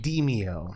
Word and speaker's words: Demeo: whole situation so anyway the game is pronounced demeo all right and holy